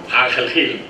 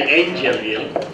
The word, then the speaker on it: Ángel Gil: My name is Ángel Gil, or as the Americans say, Angel Gil.